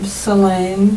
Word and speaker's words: Celaine: 14 658 and what's your first name um salain c e l a i n e middle